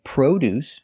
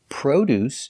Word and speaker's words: produce: Sometimes you say produce using the long O. Produce is another name for fruits and vegetables. And produce, spelled exactly the same, but pronounced differently, is the verb to manufacture products.